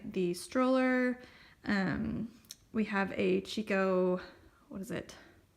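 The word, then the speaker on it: Chicco: We have a Chico, what is it? I know Kiko is the right way to say that, but I always say Chico still.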